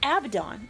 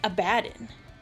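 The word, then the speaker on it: Abaddon: to the audio books it's abdon and that's like a British dude saying it I'm not wrong I was like abadin i' I've always heard abdon abidon yeah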